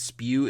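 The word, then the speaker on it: S.P.E.W.: Now, when they're red, are you supposed to say them like Hermione insists spew is said, S-P-E-W?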